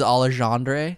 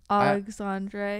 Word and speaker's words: Alexandre: Alexander, you got the coolest name when you pronounce Alexander and like Alexander versus Alexandre. That's freaking swagtastic. That is so sick. Alexandre, yeah. Because the X is like a Z and it's sexy.